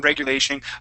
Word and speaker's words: regulation: roll your R regulation try not to roll your r on on regulation regulation let's say regulation